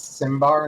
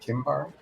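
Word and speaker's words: Cimber: His last name is Simbar, not Kimbar. Yeah, it is pronounced Simbar.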